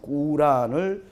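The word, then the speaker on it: قرآن: 우리는 코란이라고 부르는데 이 사람들의 발음은 꾸란을 내게 주셨다.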